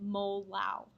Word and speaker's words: molal: So instead of molar, you pronounce that little m molal.